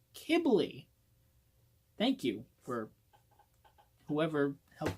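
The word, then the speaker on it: Qibli: kibbly I've been corrected it is not pronounced Quigley it is pronounced kibbly thank you for whoever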